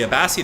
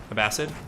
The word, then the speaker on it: Abbasid: turned just adds up it is pronounced uh abbas seed a vaseed abbasid a bad seed i'm trying it's a